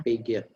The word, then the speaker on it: Piaget: Ya, Pak Udet kan kurang setuju dari si Jean Piaget ya, bacanya Piaget ya. Piaget.